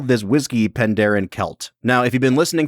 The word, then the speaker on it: Celt: ahead and assume that it's pronounced kelt because it's you know it's Celtic yeah like like the Boston Celtics yeah I was going